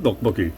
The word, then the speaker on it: tteokbokki: He's like, oh, I love tteokbokki.